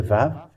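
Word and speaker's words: וו: This is the Vav. Let me make it in red. This is the Vav. It is called Vav. It is pronounced as V, and this is how we write it in Hebrew.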